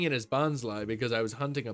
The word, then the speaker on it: Bonsly: it was just like, yeah, I pronounce it Bonsly because this is my logic behind it. Aside from the fact that that's how they say it in the anime, to me it just makes sense. Because to me, it's a bonsai tree.